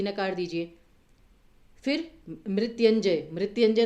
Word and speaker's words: मृत्युंजय: अब मृत्युंजय में इसका सही उच्चारण कैसे होगा, मृत्युंजय, मृत्युंजय में य के साथ छोटी ऊ की मात्रा आएगी या बड़े ऊ की, तो बोला कैसे जाता है मृत्युंजय, मृत्युंजय तो नहीं बोला जाता ना, दैट मीन्स कि छोटे